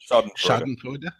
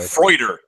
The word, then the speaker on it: Schadenfreude: Schadenfreude. Schadenfreude. Yeah. How do you guys know that? By the way, not Freuder. I don't know. Freude.